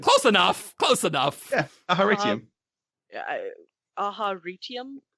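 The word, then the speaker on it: Aharietiam: Aharitium? I would go Aharitium. I say Last Desolation. I am very different from you guys. I say Aharietium. Whoa.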